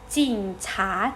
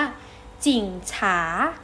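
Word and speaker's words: 警察: ดู 2 ตัว แรก 2 พยางค์ แรก นะ คะ ออก เสียง ว่า จิ่ง ฉา และ จิ่ง ฉา ขอ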